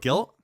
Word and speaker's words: Gylt: Guilt? Yeah. It's called, but it's spelled Gylt.